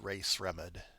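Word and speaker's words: Rae Sremmurd: How do you pronounce the name? There's an artist or band whose name is Eardrummers backwards. Ray Sremmerd.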